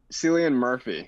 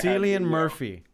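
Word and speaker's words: Cillian Murphy: one of my yeah i always say it wrong i say it wrong too i say it wrong all the time but i said it correctly right yeah celian murphy yes what a great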